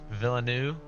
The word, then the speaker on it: Villeneuve: Villeneuve. You don't pronounce like the last consonant ever.